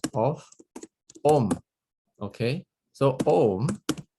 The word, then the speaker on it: Om: Okay, so Om is actually consists of the syllable of A plus U plus Ma, A-U-Ma.